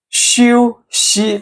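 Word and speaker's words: 休息: Okay, 请假 Okay, the last phrase 休息 actually 休息 Okay, actually the tone here is the first tone. It's the first tone, okay? Same with 修, the high flat tone.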